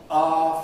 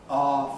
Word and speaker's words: our: Our Father. And that's certainly the way I learned it. Our Father.